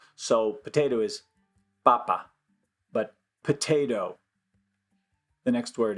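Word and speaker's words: papá: is Papa there the the accent is important uh same kind of situation though just stress on the different syllable so potato is Papa but potato the next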